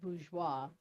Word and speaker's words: bourgeois: The technical pronunciation is bourgeois.